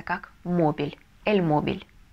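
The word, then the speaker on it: móvil: последнее слово последняя последнее слово это мобильный по-испански читается как мобиль El Mobile и совершенно верно ударение мы ставим на первый слог Потому что если не поставим то получится мобиль все дорогие друзья вы большие Молодцы если дослушали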